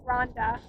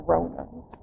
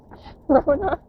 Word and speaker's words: Rhonna: Elijah, my name is RHONNA, and my name gets mispronounced all the time. Literally, she's Rhonda. Or RHONNA. Rona.